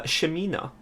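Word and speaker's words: Ximena: less common names here uh shamina would be x i m e and a spell it one more time x i m e and a i like that yeah and especially the she sound is also very asian so uh oh also very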